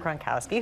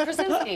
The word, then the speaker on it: Krasinski: So your husband, actually, John Gronkowski, who everybody... Oh, that is Gronkowski. That was an interesting pronunciation. Maybe he wants to be Rob Gronkowski. Gronk and Krasinski.